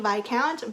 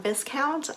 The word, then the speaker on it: viscount: to catch a wicked by count by Amy Rose Bennett did you know that it's pronounced by count and not Viscount I only figured this